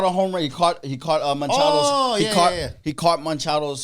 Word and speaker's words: Machado: He caught Machado's. Oh, yeah. He caught Machado's home run ball. Machado, not Manchado.